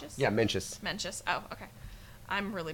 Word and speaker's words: Mencius: Mencius? Oh, yeah, Mencius. Mencius. Oh, okay. I'm really bad at pronouncing things, so it's like a running joke with my Geek Student Quizzers.